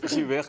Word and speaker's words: Jyeuhair: mais sans déconner alors votre nom c'est Jer comme ça et il se prononce Jer comme ça sans s'arrêter sur chaque lettre en en enchaînant Jr pourquoi parce que c